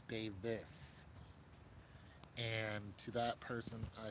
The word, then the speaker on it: Davis: I call him Anthony David, and it's Davis.